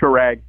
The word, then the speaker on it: Shrag: It's Shrag. Shrag with a G? With a G, yeah. Or right.